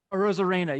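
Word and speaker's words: Arozarena: use Randy Arizona, I always get his last name wrong, for Tampa Bay? Rosarena. Rosarena, yeah.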